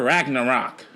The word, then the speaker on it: Ragnarok: and you saw Thor didn't you saw Thor Ragnarok that's how you say it how were they